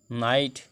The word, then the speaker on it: know: के letter silent होगा, के बाद एन आने पर के हमेशा साइलेंट रहता है, जैसे के एन ओ डब्ल्यू नो जानना, के साइलेंट रहेगा।